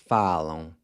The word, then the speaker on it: falam: So they speak would be eles or elas falam. Now here, you're replacing the AR with an AM, except that the AM is pronounced with this nasal sound. Falam.